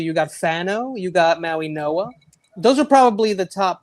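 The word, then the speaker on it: Mauigoa: Well, it's Francis Maui Noah. It's Francis Maui Noah Noah. Okay. But I don't know why it's spelled the way it is. I have no idea, but it's apparently I've heard it's Maui Noah.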